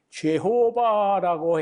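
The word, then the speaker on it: Jehovah: 그리고 이제 2장 4절 이하에는 엘로힘이 아니고 여호와 엘로힘 이렇게 하니까 여호와로 시작하니까 영어로 표현할 때 제호바라고 해요. 제호바. 그래서 우리처럼 여호바가 안 되고 제호바가 되니까 제호바라는 이 말의 첫 이니셜 첫 글자는 J가 되거든요.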